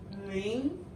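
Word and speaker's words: 零: So how do you say 0 in Chinese is ring. Can you say after me? Ring. Ring. That is the second tone.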